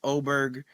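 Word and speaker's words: Åberg: For those of you that might watch a little bit of golf, is Levig Oberg. It looks like Aberg, but it's pronounced Oberg.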